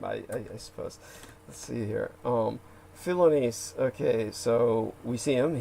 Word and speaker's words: Philonise: The guy's name is Philonise, or he may be named after the Greek philosopher, to the point where they're pronouncing it like the Greek, where it's Philoniste, as opposed to, you kept saying Philistine.